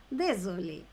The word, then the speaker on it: désolé: Désolé.